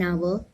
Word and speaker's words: hour: Use and before an H where the sound of H is silent. For example, an hour, an honor, an honorary vice president.